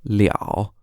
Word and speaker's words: 了: And you might know that this character is also pronounced L, L-E, with no tone. It can also be pronounced 了 in the third tone when it's used as a result complement.